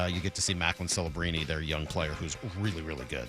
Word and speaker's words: Celebrini: San Jose, and you get to see Macklin Celebrini, their young player, who's really, really good. That is everything you need to know. Any relation to Enum Claw's Brian Scalabrine? It's Celebrini.